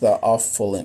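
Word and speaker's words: theophylline: specific range I'll be completely honest it's it's pronounced the awful in oh thyophylline oh okay cool hey look I already said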